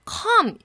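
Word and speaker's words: comb: 그리고 come, 자, 이 부분이 정말 재밌었는데요. 자, B는 묵음이죠.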